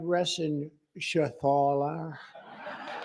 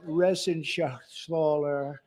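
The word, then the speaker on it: Reschenthaler: And Guy Resenshathaler. You know that Resenshathaler. That's actually the way you pronounce it.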